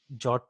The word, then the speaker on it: JWT: So jot comes into the picture, which is like JWT, which I pronounce it as jot, which is JSON web token.